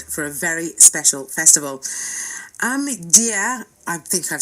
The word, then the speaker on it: Ahmadiyya: It's Ahmadiyya.